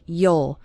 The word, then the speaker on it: you'll: start seeing your English the word you'll which is short for you will is pronounced kind of like yeol you'll start seeing your